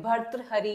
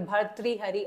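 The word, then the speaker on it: भर्तृहरि: है आपके भत्र हरी अब इसको आप कैसे भी प्रोनाउंस कर सकते हो हिंदी में भी इसका जो अ प्रोनंसिएशन है वो थोड़ा सा अलग है भर्त हरि या फिर भर्त्री हरि आप करके बोल सकते हो इनका एक वर्ग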